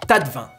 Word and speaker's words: taste-vin: Et oui, ce petit objet servant à déguster s'écrit taste-vin, mais se prononce tas de vin.